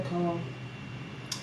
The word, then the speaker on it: Naycole: Same thing, Naycole.